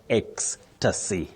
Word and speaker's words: ecstasy: E C S T A S Y. How do we pronounce that, Phillis?